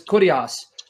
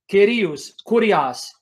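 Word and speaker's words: kyrios: the greek word which the erasmian way of pronouncing is curias curias k-y-r-i-o-s which is the greek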